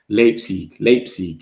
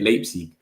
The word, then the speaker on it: Leipzig: Sorry, I can't pronounce Leipzig. Respectfully, Leipzig. Leipzig. Yeah, that's how they say it. Leipzig.